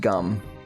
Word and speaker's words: Jum: It's spelled J-U-M, but it's pronounced gum.